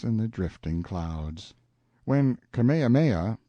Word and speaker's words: Kamehameha: When Kamehameha, pronounced Ka-me-ha-me-ah, the Great, who was